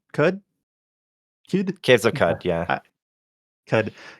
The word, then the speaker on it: Qud: See uh Caves of how do you pronounce this? Qud Quud Cud Caves of Cud.